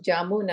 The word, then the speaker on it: jamun: It's also pronounced Jamun, I think, Jamun.